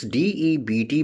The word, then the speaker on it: debt: So D-E-B-T, in this D-E-B-T, B is a silent letter. And its pronunciation is not debit, it's debt.